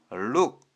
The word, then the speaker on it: look: 모두 단어의 오오가 들어갔고 발음은 모두 한글 우 발음이 났습니다. 입니다. 오늘 배우는 룩 역시 l은 리을오는 우, k는 키 합쳐서 look 오늘 배운 알파벳 l로 시작하는 단어 복습해 보겠습니다.